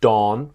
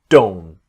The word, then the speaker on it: don't: So don't the T very often the T is don't not dawn but don't.